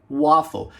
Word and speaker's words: waffle: se vai pronunciar Ei você precisa prestar atenção nas letras que seguem o ar se forem duas consoantes repetidas como é o caso de waffle você vai fazer o som de Ó depois a gente vai